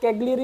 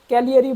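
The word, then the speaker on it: Cagliari: तो last year जो सबसे कम मेरिट वाली यूनिवर्सिटी थी वह कैगरी यूनिवर्सिटी थी जिसे इटालियन में कैलियरी बोला जाता है। यहां पर जी साइलेंट कर दिया जाता है।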